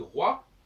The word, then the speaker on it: roi: Quand le français dit roi, il ne prononce pas le O ni le I, il prononce un UA.